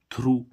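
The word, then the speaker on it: through: ऐसे इसमें हम देखें टी एच RO Yeezy H थ्रू थ्रू means द्वारा या के पार देखो यहां पर भी जी एच क्या है साइलेंट हो रहा है ठीक है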